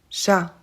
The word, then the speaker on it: chat: vous avez remarqué mais on ne prononce pas le S à Paris et le T à chat c'est parfaitement normal en